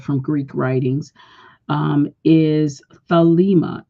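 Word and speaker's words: thelema: Greek writings um is thalma t h e l e m a and the E after the L is a long e so is thalma it is a Greek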